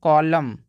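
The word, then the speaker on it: column: ठीक एम आ जाए तो वहां पे एन साइलेंट हो जाएगा जैसे कि इसको पढ़ते हैं कॉलम कॉलम कॉलम का मतलब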